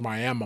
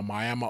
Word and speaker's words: Miami: And they were because the fight took place in Miami spelled like Miami, but pronounced Miami Miami, Oklahoma.